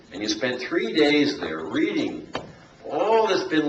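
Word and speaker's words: Tao: section called the the TA it's actually pronounced da but it's spelled with a t TOA so for instance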